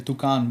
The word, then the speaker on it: toucan: It looked like a toucan or something. Yeah, there's toucans there for sure. Yeah. Is that how is that how you pronounce it? Yeah. Toucan or they in Spanish tukan but close enough.